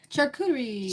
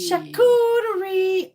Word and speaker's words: charcuterie: Charcuterie. Charcuterie. I don't know how to say it unless someone says it. So I just think of Charlotte. And then be like charcuterie.